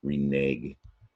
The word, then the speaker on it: renege: It's tricky because it has the silent E. Now that silent E should make that last syllable renege, make it a soft G sound at the end there, but you hear a hard G, renege.